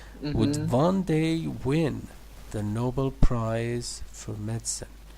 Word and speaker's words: Nobel: Who would have predicted that our pedestrian colleague would one day win the Nobel Prize for medicine? It's Nobel, not Nobel. Nobel Prize.